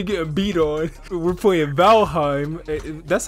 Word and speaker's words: Valheim: aside from me getting beat on we're playing valheim that's how you say it right valhave yeah yeah okay that's what we play in